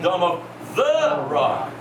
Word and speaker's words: Dome of the Rock: is this called D you got to say it properly Dome of the Rock because it's not the Dome that's important it's the rock the foundation stone okay okay where the